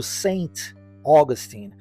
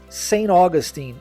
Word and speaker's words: Saint Augustine: das vezes eh terá a pronúncia da letra T sendo omitida aqui então ao invés de pronunciar Saint é pronunciado sem e a uma junção com a próxima palavra Augustin que igualmente possui a sua sílaba tônica mais forte no início da palavra portanto sa Augustin é a correta forma de se pronunciar o nome dessa